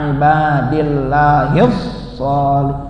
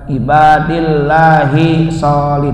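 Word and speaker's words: عباد الله الصالح: Assalamu alayna wa ala ibadillahis sholih. Bukan ibadillahi sholih, bukan begitu. Sholih.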